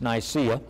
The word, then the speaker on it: Nicaea: But the history of the Council of Nicaea, it's spelled nice in this, N-I-C-E, but it's Nicaea, has been so often written